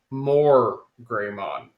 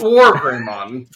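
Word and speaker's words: WarGreymon: Rizwan, being a stupid kid, thought they said his name was More Greymon, not War Greymon. Now it's, No, don't laugh at him. That they actually pronounce it like that.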